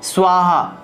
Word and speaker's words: স্বাহা: সকল শত্রু সমরনায় স্বাহা, শেষের উচ্চারণটা হবে স্বাহা।